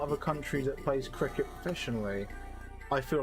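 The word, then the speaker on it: Cricut: about i mean yeah technically we would pronounce it cricket but i it's weird yeah i i i read it as cry-cart i could see cry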